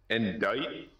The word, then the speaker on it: indict: Indict?